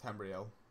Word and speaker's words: Tamriel: Is that how you pronounce it? Yeah, I no, never. Tamriel.